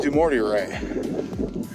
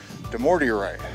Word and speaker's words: Dumortierite: So on this giant rock here, this purple stuff, right here, this is Dumortierite. And the way I remember how to say it is do more to your right. Dumortierite.